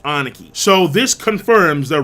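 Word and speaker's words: 兄貴: And Big Bro is actually pronounced Aniki.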